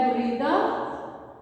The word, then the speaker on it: بریدہ: تیسرا لفظ ہے بریدہ، بریدہ بے پیش رے کے نیچے زیر، یہ کہ بریدہ یہاں پر جزم، دال کے اوپر زبر، ہا کے اوپر بھی زبر، بریدہ.